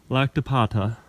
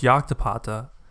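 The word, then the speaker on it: Llactapata: are the runes at lactapata here's the view from the trail i just got here actually pronounced yoktapata the site is widely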